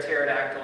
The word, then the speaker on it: pterodactyl: can't you hear a pterodactyl in the bathroom because the p is silent okay how about